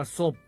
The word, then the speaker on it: ซบ: คำ ว่า ศพ ครับ ศพ เขียน ซอโซ บ่อ แม่ ไม้ รวม กัน แล้ว อ่าน ว่า ศพ ครับ ศพ มี อยู่